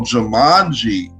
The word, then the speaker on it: Jumanji: Yo, Jumanji. That's how you pronounce it.